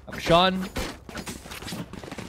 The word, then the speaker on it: Action: It's because in Filipino it's spelled AKSYON, so that kind of is pronounced.